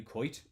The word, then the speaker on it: Koit: to be fair a lot of people call me anyway um so you're not doing me a disservice hdx gordon hello sir says how are you how old are you coit with coit spelt with